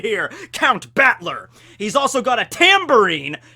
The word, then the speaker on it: Battler: However, in the Romanj, the way his name is pronounced sometimes comes out as Butler. So is he a butler or a battler? He's a battler butler. Okay, but no, he's Battler, Count Battler, all right?